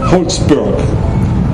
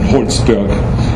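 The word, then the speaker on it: Holtzberg: included a rabbi Gabriel holzberg that's the way I pronounce it in German holsberg uh and his pregnant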